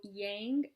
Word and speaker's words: yang: So, yang energy. What does it rhyme with? It rhymes with tang, right? That's the first word that came to mind when um I thought yang, right?